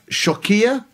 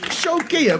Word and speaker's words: Xewkija: There's one church there in a village called Shokia. Shokia. There's one village... Shokia, which is spelled Xewkija, which isn't a name for a village, it's a high security password on Amazon.